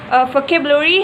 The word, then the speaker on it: vocabulary: Vocabulary has 5 syllables: vocabulary. In this case, the primary is on the second syllable in the word cape, and the secondary stress is on the fifth or the last syllable in the word re.